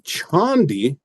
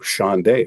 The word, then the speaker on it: Chande: add up here the Chandi. So it's spelled Chande. You can see why someone who they're not familiar with the gentleman named Tushar Chandi, they might see this and say, ooh, Chande sounds exotic.